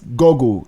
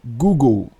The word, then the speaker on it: Google: one is very popular some people still call it gole it's Google Google go number five Amazon if